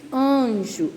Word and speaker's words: anjo: mesmo jeito a n a gente não pronuncia o n a gente diz anjo o ar ele sai